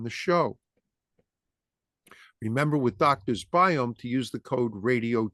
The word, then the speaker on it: Biome: Doctor's Biome, DOCTORS, BIOME. Sounds like biome, but it's pronounced biome.